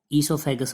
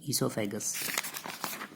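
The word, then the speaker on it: oesophagus: ठीक है, या इसको ईसोफेगस बोल देते हैं, ओ को साइलेंट कर देंगे, ईसोफेगस।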